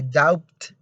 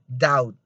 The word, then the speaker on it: doubt: say plumber you say plumber you don't say doubt but you say doubt doubt and the other one is debt debt